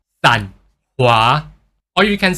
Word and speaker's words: Sanhua: So people will just call her SanHua. But this san is actually pronounced as sun, but with lower pitches. SanHua.